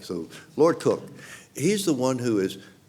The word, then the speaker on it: Coke: C ke but pronounced cook we Americans would have said Coke but you know it's their their guy so they can call him what they like so Lord cook he's the one who